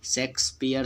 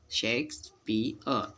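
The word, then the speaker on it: Shakespeare: यार वाला एग्जाम्पल एक आध और, जैसे कि हम देखते हैं शेक्सपियर हम लोग बोलते हैं, जो कि गलत है। पियर और अंतिम में साइलेंट रहता है, क्योंकि आर इसके नाम में आता है, जो कि हमको साइलेंट रखना पड़ता है। कोई वर्ड में ये साइलेंट रहता है, बोला नहीं जाता, जो कि मतलब अपने अ साउंड वहाँ दे जाता है साइलेंट होके। शेक्सपियर, ठीक ना।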